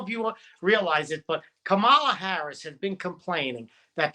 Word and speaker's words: Kamala: I don't know if you realize it, but Kamala Harris has been complaining that people have been mispronouncing her name, and it's racist, she says. Not my words. These are her words. She says, my name is Kamala.